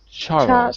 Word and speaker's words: Charles: wait a second Charles Charles sorry you don't pronounce the L in Charles by the way uh